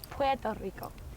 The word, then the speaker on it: Puerto Rico: And I think the correct way to say it is Puerto Rico.